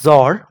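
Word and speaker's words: XOR: Then we have bitwise XR operation. Some may pronounce it as zor but it's the same thing which stands for exclusive or.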